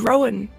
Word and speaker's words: Wrowan: You look back at the letter, and indeed it does, just the W is silent. It's WROWAN.